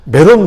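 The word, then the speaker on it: 메롬: 메론 물가에 모였다라고 되어 있어요. 발음을 잘 하셔야 되는데 발음을 잘못하면 좀 이상하게 돼요. 메론 물가에 모였다고 되어 있어요.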